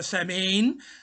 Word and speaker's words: Samhain: it's spelt uh s-a-m-h-a-i-n uh but the age is silent sir it's uh same i think originally it was sawing and it was the harvest festival um uh